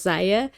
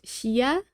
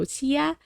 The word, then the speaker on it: Xia: explain to me that this name, which I often pronounce Zaya, is a Chinese name and is supposed to be pronounced as, I'm sorry, but I'm gonna keep butchering this probably, but I think it's supposed to be pronounced Xia, so Xia.